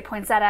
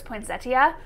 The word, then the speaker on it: poinsettia: And it was about the pronunciation of the word poinsettia, because in our region we say poinsettia and I think proper is poinsettia, which I cannot even make come out of my mouth.